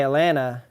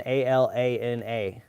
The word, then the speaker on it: Atlanta: But anyways, I also say Atlanta without the T's. Sounds like I'm saying Alana.